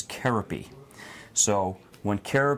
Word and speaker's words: Kerope: K comes from is his formal pronunciation of his name is Cara P so when Cara P Zildjian took over making symbols and Turkey he changed the trademark to K .